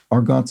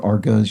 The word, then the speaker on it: argots: Specialized vocabularies are argots or argas. You'll see it pronounced either way.